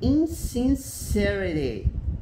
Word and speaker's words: insincerity: Insincerity. Ó, aqui você tem a sílaba tônica, a primeira sílaba principal, né, que vem com esse apóstrofo para cima. Insincerity, né?